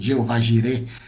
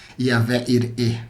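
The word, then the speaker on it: יהוה יראה: yahvé ir yahvé jir como você conhece Jeová jir pronúncia correta no hebraico yavé ir o Deus da Providência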